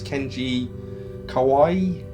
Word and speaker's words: Kenji Kawai: think that came out in 1995 composer was Kenji Kawai that's how you pronounce that um yeah so I say this